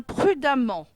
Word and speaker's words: prudemment: 3è erreur un prudemment prudemment s'écrit avec e M m e n t pourquoi les adjectifs en on forment leur adverbe en mon bien e M m e n t le E se prononce a bien évidemment 4è erreur